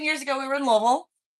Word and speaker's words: Louisville: 10 years ago we were in Louisville. Not planning on leaving, not planning on moving. And for those of you not from the area, I will pronounce it for you clearly. Louisville, for those of you who don't know, that